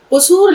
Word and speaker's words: कुसूर: कसूर माफ कर दूं कुसूर लफ्ज का सही उच्चारण कुसूर कुसूर कुसूर कुसूर गुड यानी कि